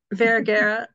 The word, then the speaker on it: Vergara: Vergara, sorry. And I had you pronounce it in everything.